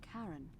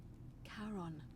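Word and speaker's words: Charon: okay foreign all right you're here you your pronunciation is a little off the name you heard wasn't karen it was c h cody r o n as in caron the ferryman of the dead karon who in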